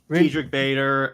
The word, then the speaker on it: Diedrich Bader: Deidre Bader, I can't pronounce his name. Diedrich Bader.